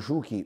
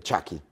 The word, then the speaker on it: Chucky: il ciuky A proposito lo chiamano ciuki perché gli spagnoli non ci hanno le pronunce americane ma lui in realtà sarebbe Chucky perché il pronome il soprannome viene da Chucky La bambola assassina che